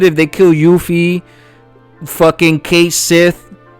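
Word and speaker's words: Cait Sith: they kill Yuffie, fucking Kate Sith, right? Katsi, however you want to pronounce it. I'm American, right? And it's Kate Sith forever for me.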